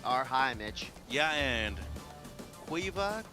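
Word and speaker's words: Caoimhe: Yeah, and Quiva, Quive, or Kiva, depending on how you pronounce it. It's an Irish name.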